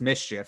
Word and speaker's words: MSCHF: Yeah, I mean, the article also mentioned that this particular company, MSCHF, I think it's pronounced mischief because that's what the letters spell out.